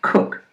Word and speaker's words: Koch: he introduced himself as David Koch pronounced kook I learned much later